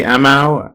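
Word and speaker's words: Aamu: Is that Amorites, the Amau, the Amorites? No. Nope. This is spelled A-A-M-U. Okay, just sounds similar to me.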